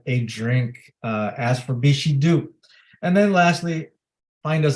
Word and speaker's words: Bixhidu: beef she do because it does not read the way that it is pronounced it is b-i-x-h-i-d-u bishido like a small kiss